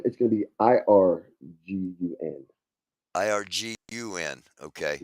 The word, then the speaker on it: Irgun: Is that how No, that's spelled? Irgun is going to be IRGUN.